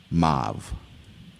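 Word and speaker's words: mauve: I'm going to pronounce them both because I think the first pronunciation is not the common pronunciation. Okay. Um, your word is mauv. Also pronounced mauv.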